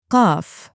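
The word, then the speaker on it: قاف: Today we're moving on to the next letter, QAF. We'll look at how it sounds, how to pronounce it correctly, and go over a few easy examples to help you remember it.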